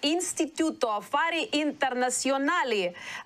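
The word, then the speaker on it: Istituto Affari Internazionali: It's Natalie Tocci, it's a political scientist and director of the Instituto Affari Internazionali at Vienna. Am I right? That is in Rome, but it's perfectly pronounced.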